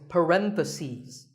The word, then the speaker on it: parentheses: you're talking about both the plural is parentheses the last syllable becomes C's parentheses word number 47 is